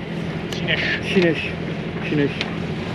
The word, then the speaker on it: Sines: Chinesh. Bien prononcé, José. Chinesh.